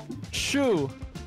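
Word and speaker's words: CXu: Capital C, capital X, lowercase u. Oh. Can you repeat the question, sir? How do you pronounce the name of the following top player? Shu. That's correct. Shu is correct.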